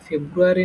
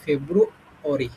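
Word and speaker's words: February: যেটা ফেব্রুয়ারি উচ্চারণ করতাম এটা ফেব্রুয়ারি না এটা হচ্ছে ফেব্রু অরি শেষে হল অরি ঠিক আছে অরি আর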